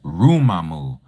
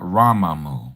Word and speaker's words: Rumamu: So I'm just giving you a little coaching on how to pronounce exaltation in Abrit, which is Rumamu, not Ramamu, okay?